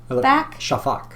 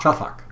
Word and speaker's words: Shafak: I'm going to try really hard not to mispronounce her name. Um Alf Shak Shafak Shafak Shafak Shafak um Elef Shafak.